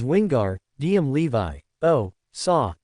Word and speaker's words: Wingardium Leviosa: It is wingar dm levi o saw the gar must be said long and clear.